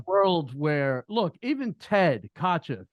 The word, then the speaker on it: Kotcheff: The fact that Ted Kutchin, how do you say Kotcheff, sorry. The fact that Ted Kotcheff,